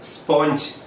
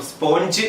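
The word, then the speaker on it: sponge: അടുത്ത വാക്ക് നമ്മൾ എല്ലാവരും തെറ്റായിട്ട് ഉപയോഗിക്കുന്ന വാക്കാണ് സ്പോഞ്ച്. സ്പോഞ്ച് എന്ന് പറയുന്ന വാക്കിന്റെ കറക്റ്റ് ആയിട്ടുള്ള ഉച്ചാരണം സ്പോഞ്ച് എന്നല്ല, മറിച്ച് സ്പഞ്ച് എന്നാണ്.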